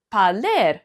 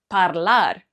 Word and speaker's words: parler: So, it's parler, not parlar.